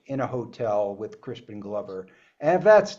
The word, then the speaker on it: Glover: Yes, Glover. We got the pronunciation of his name definitively settled. It is Glover, not Glover.